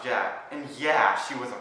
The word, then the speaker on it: Djaq: Just last week, Jack was bit by a snake. Oh, it's pronounced Jack.